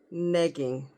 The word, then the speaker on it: negging: ladies let's talk about neing rhymes with PEG NE not like nagging but NE with an E neing what is nagging first